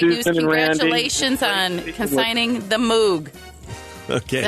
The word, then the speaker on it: Moog: congratulations on consigning the Moog okay how you pronounce it moo okay thank you all